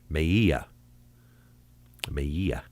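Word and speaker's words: Melilla: going to say that the L's are pronounced with a Y sound. Maya Maya a Moroccan man died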